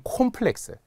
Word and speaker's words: 콤플렉스: 그래서 오로 발음 나는 것 중 우리 학생분들이 좀 헷갈려하는 콤플렉스. 쌤 컴플렉스 아닌가요? 열등감 같은 거 아닙니다. 원래 오 발음이에요. 콤플렉스여야 됩니다.